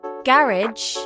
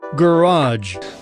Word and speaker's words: garage: words borrowed from French Americans often stress the last syllable while Brits go for the first take garage for example in British English they say garage while Americans say garage with a new Ferrari